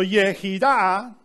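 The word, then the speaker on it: יחידה: So Yehidah is how you read, you write Yehidah. Yod, Het, Yod, Dalet, He. Yehidah. And it's related with that word that we say Yehi, even though it's written with He, but Yehidah with Het.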